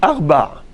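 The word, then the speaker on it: ארבע: Alors il faut savoir qu'en hébreu, le chiffre 4 ne se prononce pas de la même façon lorsqu'il s'agit du féminin ou du masculin. Comment on dit 4 pour le féminin? On dit Arba.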